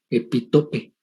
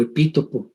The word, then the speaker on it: epítopo: Y este componente del antígeno, que es lo que interactúa con el anticuerpo, a ese le llamamos epitope o epítopo o epítope. Ya como le quieran pronunciar, es perfectamente válido.